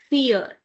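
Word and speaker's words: vier: Because it's i e, so this should give you e sound. So, the number four is called fear. As we have done it in previous example also, fear.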